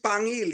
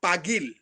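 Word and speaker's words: Paguil: actually uh he don't you don't call it pangil you know it's called pagil pagil yeah yeah be pagil p-a-g-u-i-l but uh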